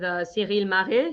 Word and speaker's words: Ciryl Gane: And since then, I've seen on your Instagram you've been working with Ciryl Gane.